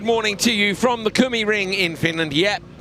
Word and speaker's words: Kymiring: Here comes the Finnish pronunciation bus. Yeah, he came past his little scooter and he said, "It's Kumi Ring."